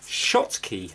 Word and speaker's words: Schottky: video where basically I'm gonna be refitting the Schottky that's how you pronounce it I'll show you a sheet with